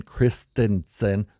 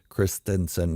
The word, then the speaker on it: Christensen: glad to see Hayden Christensen that's how it's pronounced Christensen not Christensen back in Star Wars